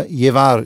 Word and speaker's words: Llevar: Uruguay, Te Voy a Llevar, heißt zwei L werden immer wie ein J ausgesprochen, Te Voy a Llevar.